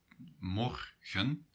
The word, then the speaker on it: morgen: Well, the stress is on the first syllable. So a syllable is morgen. Mor is the first syllable, gen is the second syllable.